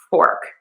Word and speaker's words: fork: Um, so for fork, we need that sound. And you are going to round the lips for the or and then pull back the lips for that R sound. So the O and the smoosh together to make this or sound.